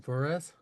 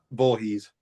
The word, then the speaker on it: Voorhees: Voorhees? Voorhees.